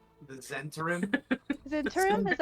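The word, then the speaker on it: Zhentarim: How the fuck do you pronounce Zentarum? The Zentarim? Zentarum? Is that how you pronounce it? Yeah, that's how they say it in Baldur's Gate, so that's how I'm saying it. Zentarum.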